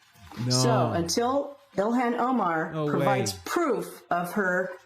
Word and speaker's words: Ilhan: I think the Arabic pronunciation should be Ilhan. You have to pronounce the H.